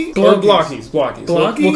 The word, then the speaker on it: Blokees: The Chinese pronunciation. I went down a rabbit hole to try and figure out who was right. It's bui. That's how they say it in Chinese.